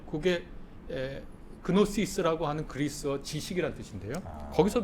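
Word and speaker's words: γνῶσις: 그게 그노시스라고 하는 그리스어 지식이라는 뜻인데요. 거기서 이제 유래한 겁니다. 그 크가 묵음인데 묵음이지만 원래는 그노시스 이렇게 발음했습니다.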